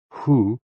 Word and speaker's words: hoo: HOO, pronounced like hu, which is associated with the spleen, and XI, pronounced like shi, which connects the whole body.